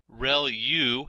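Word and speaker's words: ReLU: there are multiple hidden layers like convolution layer real U is how that is pronounced when that's the rectified linear unit that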